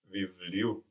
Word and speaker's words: βιβλίου: So we don't have the accent on the u, but just before.